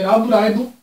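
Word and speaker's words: ラブライブ: falar aqui no início as duas pronúncias de love a primeira que é pronúncia em inglês que é Love Sunshine e a segunda que é a pronúncia em japonês que vem do Katakana porque é uma palavra estrangeira que é Rabu raibu sunshine elas eu vou botar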